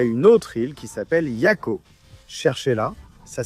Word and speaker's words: Jaco: Il y a une île qui s'appelle Ataoujo et il y a une autre île qui s'appelle Yako. Cherchez-la. Ça s'écrit Ataujo et l'autre s'appelle Jaco.